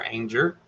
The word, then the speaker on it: Anger: We got Good Times Homestead with Jen and Steve, which used to be Jennifer Anger, rhymes with danger, but she is rebranded to include her husband Steve.